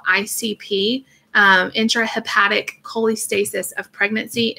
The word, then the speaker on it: cholestasis: This is colis. Yeah, I'm saying it wrong because I'm messing up with what. That's how you said it, though. Yeah, but it's not that. It's Cholestasis.